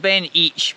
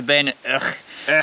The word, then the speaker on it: Beinn Each: It looks like Beinn Each, but the pronunciation is apparently Beinn Eich.